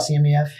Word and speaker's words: CMEF: And tell us about CMEF.